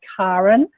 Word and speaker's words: Karen: my name is because I pronounce my name Karen. It was my mother's choice. She chose that. It's actually a Scandinavian way of pronouncing Karen. I'm South African, say Karen as well. And when you understand resonance and frequency, just the hard A actually is the sound of the heart chakra.